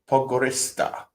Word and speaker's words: Podgorica: Pronounced Pogorista.